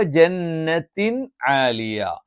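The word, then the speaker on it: جَنَّةٍ عَالِيَةٍ: ആലിയ അപ് ജന്നത്തിൻ ആലിയ അവിടെ തൻവീനിനു ശേഷം വന്നിരിക്കുന്നത് അംസ്ഹ ഐൻഹ വൈൻഹ തൊണ്ടയുടെ അക്ഷരങ്ങൾ എന്ന് പറയും അല്ലെങ്കിൽ ഹൽക്കിന്റെ അക്ഷരങ്ങൾ എന്ന് പറയും തൊണ്ടയിൽ നിന്ന് ഉച്ചരിക്കുന്ന അക്ഷരങ്ങൾ ഈ അക്ഷരങ്ങൾ വന്നാൽ ആ തൻവീനിനെയും ഈ അക്ഷരത്തെയും വ്യക്തമായി പറയണം ജന്നത്തി ജന്നത്തിൻ ആലിയ ജന്നത്തി ആലിയ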